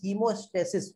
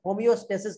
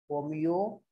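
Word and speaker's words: homeostasis: Maintain करके रखता है, इसे कहते हैं हीमोस्टेसिस, होमियोस्टेसिस कहते हैं इसे, होमियोस्टेसिस, ये इसका सही स्पेलिंग है बेटा।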